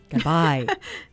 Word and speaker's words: Gabay: Oh, I said it wrong. Gabay. Like goodbye. Yes.